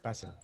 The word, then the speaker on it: Basil: Sir, ano, how do you say your name? Basil or Basil? Basil. Basil. Basil, okay.